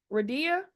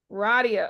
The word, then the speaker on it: Radia: pronouncing your name right is it Ria Radia Radia oh I love that that's even better than what I just said so Radia I'mma Spotlight